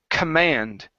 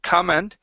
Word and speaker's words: command: to this word here this word is pronounced command with the stress at the very end instead of command it's command command there you go good